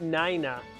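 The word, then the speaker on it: Nayna: Yes, it's traditionally pronounced nina like the number nine and a nina.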